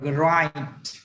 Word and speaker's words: grind: Âm này âm gì? Âm đó là Run. Âm ai hả? Đúng. Âm ai. Ai thì đọc là gì? Là grind.